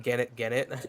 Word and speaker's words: Gennett: I'm just saying Gennett. That's how you say it.